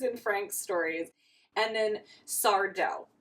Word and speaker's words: Sardo: Frank's stories and then sardo no Mis Accent on the dough who was in Gary's